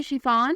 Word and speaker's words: Shifan: नाम है शिफान, स्पेलिंग है SHIFAN। शिफान नाम की मानी है मेहरबान।